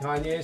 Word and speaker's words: Kanye: You asked why he liked Kanye so much. So, I said because it rhymes with Wall-E.